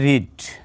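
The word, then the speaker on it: read: আচ্ছা, এটার past form হচ্ছে রেড, কিন্তু বানান একই, স্পেলিং কিন্তু একই। এটার উচ্চারণ হবে রেড, এটার উচ্চারণ হবে কি রেড, ঠিক আছে। আর পাস্ট পার্টিসিপল হিসেবে যখন ব্যবহার হবে তখন কিন্তু আবার রিডই হবে, অর্থাৎ রিড, রেড, রিড, কিন্তু পাস্ট ফর্ম হিসেবে রেড উচ্চারণ হয়।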